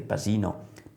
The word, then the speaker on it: Pasino: abitua a scolpire perché Pasino, paccino si scrive, ma con la s veneta si pronuncia Pasino Canova.